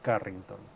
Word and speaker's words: Carrington: least in Mexican Spanish pronunciation, we would say Leonora Carrington. Okay, Because she has double R.